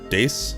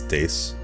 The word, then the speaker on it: dace: here i can spawn i think they're pronounced dace i've only ever seen the name of these fish in video games so i never actually heard them pronounced i think it's dace and if i'd like i